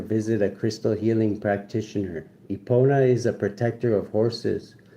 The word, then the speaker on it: Epona: Epona, pronounced Epona, was said to be the offspring of a mare and a mortal king.